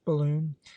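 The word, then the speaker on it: Balonne: beginning of April when the Balon pronounced balloon was cited Mitchell described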